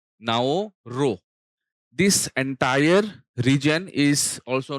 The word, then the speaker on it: Nauru: of changing the name the reason was basically pronunciation by the indigenous people the indigenous people did not pronoun it एज़ नाउरू they pronoun it एज़ नाओ रो सो, keeping in mind the indigenous people and